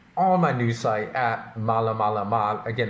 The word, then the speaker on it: Maalamalama: my news site at malamalama, again, that's spelled MAALAMALAMA, exactly how it sounds, /WordPress.